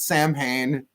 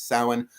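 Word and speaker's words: Samhain: of November the actual cross quarter day of Salin not Sam pain it's sowin although sewing I've seen it said all these different ways and please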